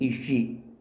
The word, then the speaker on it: Aossi: 6 number ईशी, ये Irish name है। AOSSI इस पे प्रोनाउंस ईशी।